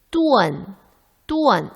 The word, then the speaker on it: dun: 그런데 발음은 어떻게 하나요? 뚜언 이걸 없애고 뚜언 은 발음은 살려주고.